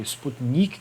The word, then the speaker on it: Sputnik: E nesse filme, o que acontece é que lá há um camponês bastante humilde que cai, o Sputnik, quer dizer, o Sputnik, essa é a pronúncia correta.